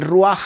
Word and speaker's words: Ruach: Hay un atributo importante en la personalidad, que es el Ruach HaKodesh. Se escribe R-U-A-J, Ruach.